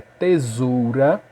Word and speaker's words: tesoura: Mas eu sei que a pronúncia dessa palavra é tesoura, porque esse S daqui está entre duas vogais. Então, quando um S está entre duas vogais, ela tem som, e esse S tem som de Z.